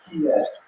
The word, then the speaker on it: Kyiv: In Russian, it's pronounced Kiev, or Kiev.